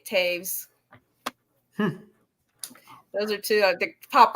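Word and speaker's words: Toews: because it's spelled it looks like toes but it's like Taves like there's it's not how it looks but um she's written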